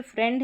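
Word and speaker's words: friend: फिर यहाँ पर अलग से याद रखना, जैसे फ्रेंड है, इसमें आई ई है, लेकिन यहाँ पर आई ई का उच्चारण ए करके हो रहा है, जैसे एफ आर आई ई एन डी, तो यहाँ पर बीच में आई ई है लेकिन उच्चारण ए करके हो रहा है फ्रेंड में।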